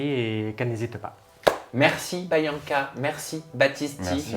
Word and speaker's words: Byankah: De ton côté, Bianca, et d'ailleurs je crois que c'est Bayanka, Anka. qu'on prononce Bayanka. Anka. Bayanka.